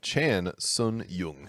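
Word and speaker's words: Chan Sung Jung: at featherweight we have alexander volkanovsky taking on chan sun yung i was just shaking my head with the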